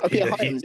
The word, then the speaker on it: Hyams: Peter Hyams, yeah.